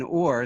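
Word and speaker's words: עור: In Hebrew, the Hebrew word for skin, or, sounds identical to the word for light, or. The only variance is that they each have a different silent letter.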